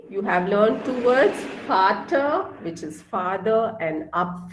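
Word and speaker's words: Vater: you have to just take the um starting pronunciation for so v a t e r is father father means father in german okay so father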